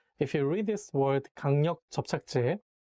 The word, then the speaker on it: 강력 접착제: So if you read this word 강력 접착제, I recommend you to make a little pause in between two words and say 강력 접착제 instead of reading them all together, because it will be not easy to read.